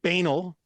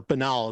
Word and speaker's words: banal: rote so so so banal or Bal as it's supposed to be pronounced I just like banal better um it it's so banal